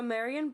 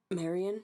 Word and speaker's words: Marianne: It Was looks she like was Marion or Yeah, Marianne. right. Right. So Marion was Marianne.